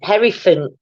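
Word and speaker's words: Hierophant: remind me henry fun harry font i think that's how you pronounce it it does sound like elephant it's the hairy fan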